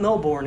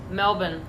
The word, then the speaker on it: Melbourne: always say it wrong it's not know born is it Melbourne Melbourne well okay yeah Americans I think always say that wrong so but I couldn't